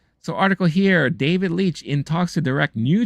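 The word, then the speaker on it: David Leitch: that Universe uh da David Leech I believe that's how you pronounce his name David Leech who is currently directing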